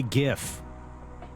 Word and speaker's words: gif: join me though K gif yeah hard G ILO golf India foxtrot